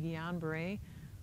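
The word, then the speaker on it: Guillain-Barré: Sometimes you have to sign that sheet when you get your flu shot and they'll ask you, "Have you ever had gon beret?" It's spelled kind of it's a French word.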